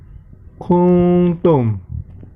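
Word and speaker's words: كُنْتُمْ: Kemudian yang perlu diperhatikan lagi yang selanjutnya adalah kuntum yang berwarna biru. Di situ terdapat nun sukun atau nun mati bertemu dengan ta, maka termasuk hukum bacaan ikhfa. Nah, maka cara membacanya adalah dengan mendengung samar.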